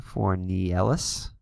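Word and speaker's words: Fornieles: So it looks like Mike Fornielis is, as we looked up his pronunciation, Fornielis is warming up in the pen.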